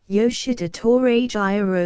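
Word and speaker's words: Yoshida Torajiro: the House of Jesu the name you are to pronounce with an equality of accent on the different syllables almost as in French the vowels as in Italian but the consonants in the English manner except the J which has the French sound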